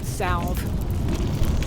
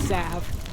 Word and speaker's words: salve: You know, I once got um not disciplined, but corrected at my audio audio book job for pronouncing that word salve. Apparently, it's sav.